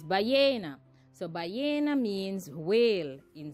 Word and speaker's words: ballena: In Spanish, we say ballena because the double L's are silent and pronounced as Y. So it's ballena.